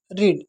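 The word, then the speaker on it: read: और इसकी जो सेकंड वाली वर्ब होगी उसे हम कहेंगे स्पेलिंग सेम होती है। लेकिन हम उसे कहते हैं रेड।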